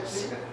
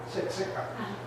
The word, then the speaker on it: Siksika: And so we want to recognise you for your work as an Aboriginal curriculum teacher at, how do you pronounce it? Siksika. Siksika.